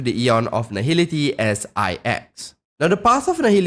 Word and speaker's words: IX: be referring to the Eon of nahil as ex now the path of nil is led by